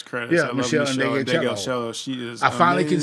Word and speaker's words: Ndegeocello: Yeah, I love Michelle Ndegeocello.